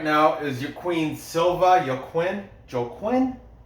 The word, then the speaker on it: Joaquim: Joaquim. There's not an N, that's an M at the end.